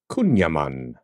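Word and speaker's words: kouign-amann: really need to cut down on it is pronounced kunan kunan kunan kunan kunan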